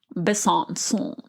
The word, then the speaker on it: Besançon: Well, people in the news say Besançon, but when I pull up like a French pronunciation, Besançon, France. That sounds like tienes como 20 años que you don't blow your nose.